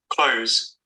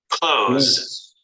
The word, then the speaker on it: clothes: Although the perfect pronunciation should be clothes, clothes. But because it's so complicated and most even native speakers find it difficult, they would say clothes, clothes, clothes.